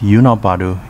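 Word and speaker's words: 与那原: Yonabaru, pronounced Yunabaru in Uchinaguchi, originally part of Ozato Village but became a separate town in 1949.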